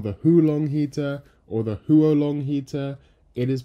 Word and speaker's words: Huo Long: hulong heater or the huo long heater it is pronounced Hua long okay right you don't have to call it you don't have to bother with the tones you don't have to